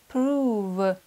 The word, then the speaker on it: prove: Слова «мув» – двигаться и «прув» – доказывать. Здесь буква «оу» читается как долгий У. Move. Prove.